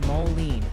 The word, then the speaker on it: Moline: And hey, quick heads up from the pronunciation police. They're gently reminding us it's Moline for Moline.